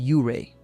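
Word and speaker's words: Ouray: Our Colorado pronounced Uray.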